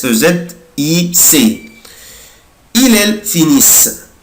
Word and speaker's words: finissent: il elle finissent mais je ne prononce pas ENT ومش بنطق ال ENT، بقولها كده finissent finissent. يبقى انا دلوقتي مش بنطق